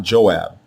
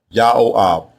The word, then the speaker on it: Joab: But the way you pronounce it is not Joab. It is ya. Yao ab.